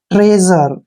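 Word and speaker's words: treasure: करना है ठीक है जब भी एस के साथ यू आता है तो एस का प्रोनाउंस ज हो जाता है और आर को हम ऐसे लिखेंगे ई का प्रोनाउंस हम नहीं करेंगे लास्ट में ई है तो उसका प्रोनाउंस नहीं करना है ट्रेजर इसको पढ़ेंगे हम ट्रेजर ट्रेजर क्या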